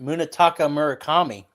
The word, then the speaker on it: Munetaka Murakami: Oh, yeah, you can't pronounce it. Munetaka Murakami.